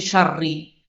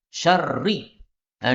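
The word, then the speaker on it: شَرِّ: Ini syarri, ini tidak pakai tanwin. Syarri. Nah, diubah menjadi syarrin supaya terjemahnya berubah.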